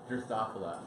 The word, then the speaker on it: Drosophila: How do I pronounce that? I just say Drosophila? Drosophila.